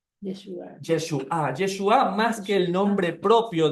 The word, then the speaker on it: Yeshua: Es Yeshua. Yeshua. Yeshua. Yeshua.